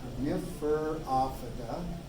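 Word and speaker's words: Coniferophyta: If I start it wrong, I always pronounce it wrong. Coniferophida. There we go. Coniferophida. I got the emphasis in the right spot on that one.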